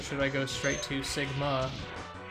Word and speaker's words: Sigma: I go straight to Sigma that's how you pronounce his name emphasis on the second so Sigma next well